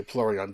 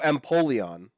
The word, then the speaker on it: Empoleon: Wow, I've been saying it wrong this whole time. Fire Eevee is Flareon, and don't worry, we'll talk about Eevees later. Hold that thought. Yeah, Empoleon. So Empoleon. Think of it like Napoleon, except a penguin.